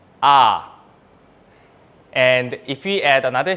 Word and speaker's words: ㅏ: So the vertical line with a little stick on the right side, this is ah, ah.